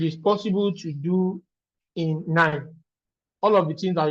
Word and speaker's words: KNIME: Like I said, nine is open source, so you can go online and just type nine. It's a German word, so the K is silent.